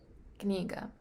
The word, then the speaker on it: книга: all right book in in russian it's kiniga kniga so k-n-e-e-g-a kaniga so there is two consonants next to each other other kaniga and